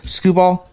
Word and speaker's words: Skubal: Skubal.